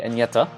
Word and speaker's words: Agnetha: uh yeah from now on i will say enyeta i will say it i watched the vid